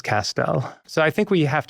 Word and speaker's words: Castel: And so I tell people my last name is Pastel, Castell, you know, Castell rhymes with pastel and my grandfather used pastels, let's say.